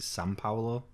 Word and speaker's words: São Paulo: Yeah, that's the language like that's weird because like in Brazil, the capital city is how we would pronounce it, Sao Paulo, but it's there's an M. They pronounce it São Paulo.